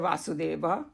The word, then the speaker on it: Vasudeva: And so this particular personality is Krishna or Vasudeva. And Vasudeva, we all know that Vasudeva was his father. So we pronounce it as Vasudev, that's his father. And he is Vasudeva, so that's the difference.